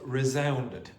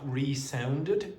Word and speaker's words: resounded: The walls resounded, and the pronunciation is not resounded, it's resounded.